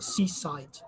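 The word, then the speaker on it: CSIDH: graph to my right Seaside yes these things has to be pronounced Seaside the family of schemes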